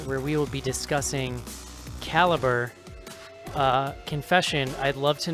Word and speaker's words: Calibre: credit came up and I went Caliber like it didn't make sense until the end of the movie did I put this together. I had been pronouncing it Calibbre and then I finally